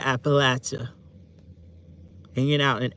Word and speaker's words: Appalachia: You want to hear Appalachia again? That's how you say it, Appalachia. Hanging out in Appalachia, Appalachian Mountains, Appalachia.